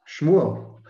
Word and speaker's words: Shmuel: Shmuel.